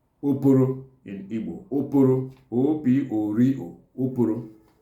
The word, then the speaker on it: Oporo: They are referring to giant crayfish, and they are called Oporo in Igbo.